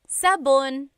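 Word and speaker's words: sabon: Soap in Tagalog is sabun.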